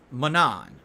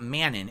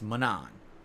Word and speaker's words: Manon: the currency you use to do that it's pronounced Manon that's how you pronounce her name not Manon it's Manon that's what I thought okay good all right